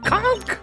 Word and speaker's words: conch: that lectured us about saying punk instead of conch all right and everyone proceeded to ignore her wrong pronunciation conk okay yeah just relax okay can you